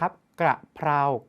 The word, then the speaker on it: กระเพรา: กระเพาะ ขอ อภัย ครับ กระเพรา กับ กระเพาะ หลาย คน ออก เสียง ผิด อย่า เอา ก ไก่